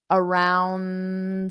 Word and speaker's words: around: da tonight around seven around seven so notice I don't pronounce that d around I just say around my tongue goes